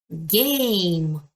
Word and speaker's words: game: Letter A стоїть у відкритому складі. Значить, звук вона буде давати A, тому що в відкритому складі голосна читається так, як вона називається в алфавіті. Letter M sound. Так. І ми закриваємо склад транскрипцію, тому що let і звука не дає.